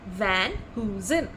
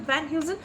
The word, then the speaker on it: Van Heusen: v-a-n-h-e-u-s-e-n and how is it pronounced it is pronounced as v a n h y double o z u h n van who's in so can we make some simple sentences with Van Heusen just so that you understand it properly okay